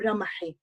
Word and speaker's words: Ramahi: Ramahi or Ramahi?